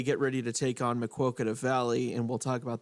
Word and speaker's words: Maquoketa: He pronounced it right, Maquoketa.